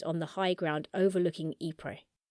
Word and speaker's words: Ypres: Basically, the British were planning to break through the semicircle of German trenches on the high ground overlooking Ypres. Ypres spelt Y-P-R-E-S, with a silent S.